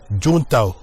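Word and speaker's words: Juncao: boutures de la plante qu'on appelle juntao en fait ça s'écrit junkao mais ça se prononce juntao cette plante a beaucoup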